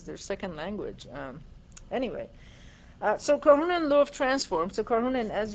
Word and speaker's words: Karhunen: Karhunen. Oh boy, now I have to spell that.